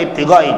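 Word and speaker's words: ابتغاء: Ini wa ibtigha'i, tadi bacanya ibtigha'i, ternyata ataf itu tabi'. Dalam ilmu nahi ada al-atfu minat tawabi'. Bilang dari tawabi' ataf itu mengikuti baris sebelumnya.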